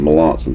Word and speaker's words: Melanson: Okay, so this, I guess, is the Melanson, I think is the correct way to pronounce this. Mike Melanson. Melanson. Melanson, thank you.